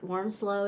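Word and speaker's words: Wormsloe: I think my favorite place was the worm worm slow is how you say it Plantation worm slow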